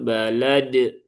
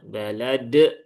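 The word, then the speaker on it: بلد: Jadi jangan sampai di akhir ayat seperti ini ketika bertemu dengan huruf qalqalah terbaca lebih mantap sehingga seolah-olah malah menambahkan huruf hamzah. Bihadzal balad. Nah, balad.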